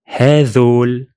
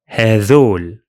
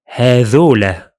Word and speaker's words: هذول: It's usually pronounced like this: هذول, هذول. And sometimes it's pronounced هذولا, هذولا.